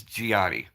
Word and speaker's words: Gionni: My middle name is basically in Italian. It's Gianni, and it's spelled kind of weird.